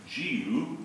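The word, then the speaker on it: Dia: It's Giu, though it doesn't look like that when you spell it on the page.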